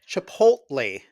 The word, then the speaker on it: Chipotle: wait wait back up did you just correct my pronunciation of Chipotle it's I did meline mandoline it's chipot Le chip try it again